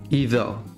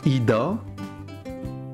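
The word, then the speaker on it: إذا: Idha. Je prononce pas ida, je prononce pas ida, mais idha.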